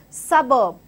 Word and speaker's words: suburb: The first part of the word is stressed, and hence the pronunciation of this word is suburb, suburb.